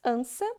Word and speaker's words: criança: Em uma delas nós pronunciamos ansa e na segunda, anca.